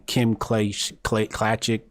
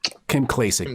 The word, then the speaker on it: Kim Klacik: And it's in regards to Angela Stanton, Kim Classic, I forget her name. How do you say her name? Kim Klacik, thank you.